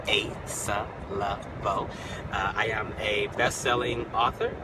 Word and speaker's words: Asa Leveaux: All right, so for those of you who don't know anything about me, I am Asa Leveaux, and that's how you say it. You say it Asa Leveaux.